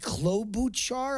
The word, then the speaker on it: Klobuchar: I mean, I've never heard of the Minnesota Senator Amy Klobuchar. I'm not even sure how you pronounce it.